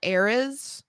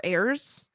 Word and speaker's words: Ares: I believe it's pronounced ARES or AIRS.